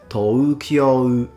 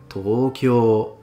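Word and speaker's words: 東京: For instance, no one says Tokyo. They all say Tokyo. So it's o.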